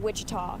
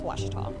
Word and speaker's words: Ouachita: at a baptist university back in texas everybody pronounces it wichita but really it's ouachita washington washington how would you pronounce it it's